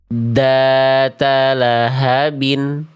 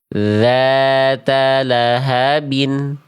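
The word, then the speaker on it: ذَاتَ لَهَبٍ: Ini bacaan yang salah karena dalalnya suaranya mampet. Lahabin data lahabin seharusnya dzata lahabin dzata lahabin.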